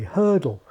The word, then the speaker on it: hurdle: people say it or think of the way Americans say hurdle hurdle it's got two syllables but where are the vowels it's really just HR DL hle other languages can go